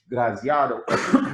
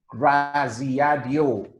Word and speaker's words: Graziadio: officer, and an adjunct professor of the Pasadena Graziado, excuse me, Graziadio School of Business. Apologies if I pronounce it wrong.